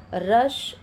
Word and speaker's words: rush: Again here you, पुश, यहाँ पे यू का प्रोनाउंसिएशन ऊ की तरह और यहाँ पे अ की तरह, पुश, रश, सक।